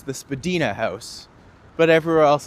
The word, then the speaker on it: Spadina: Uptown Spedina, downtown Spadina and nothing. I like to mispronounce things.